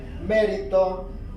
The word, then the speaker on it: mérito: La palabra mérito es una palabra esdrújula porque lleva el acento en la antepenúltima sílaba.